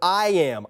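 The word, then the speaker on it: iamb: Here are the B's that we didn't know, and a couple I didn't even know, but that unstressed syllable is an I-am, I-A-M-B is the word.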